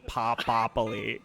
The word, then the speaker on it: Popoli: I assume that's the correct Italian pronunciation. Yeah, am I saying It is that now. correct? Yeah, that is officially.